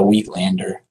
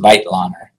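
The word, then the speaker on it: Weitlaner: the the vitelander retractor and it's not a weak lander which most people say it's a self-retaining retractor used for virtually ever every surgical spec specialty in its correct correctly pronounced vital honor it was made by a franz whitelander in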